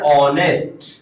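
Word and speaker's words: honest: तो अब देखेंगे यहां पे जो वर्ड है वो स्टार्ट हो रहा है एच से, लेकिन अगर इसकी प्रोनाउंसिएशन देखेंगे तो इसकी प्रोनाउंसिएशन ऑनेस्ट। तो ऑनेस्ट में साउंड आपकी किसकी आ गई है, ओ की साउंड आ गई है।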